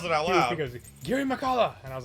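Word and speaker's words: Girimehkala: that name and I never knew how to pronounce it. And I said, thank God he yells it out loud. He goes Giri Makala, and I was like, oh.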